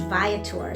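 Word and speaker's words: Viator: But anyway, what went well is um used ViTour. So ViTour is I'll spell it V I A T O R.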